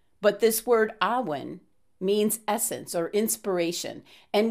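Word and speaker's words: Awen: rays of inspiration being the ahwen or uwen different pronunciations with this celtic language but this word awin means essence or inspiration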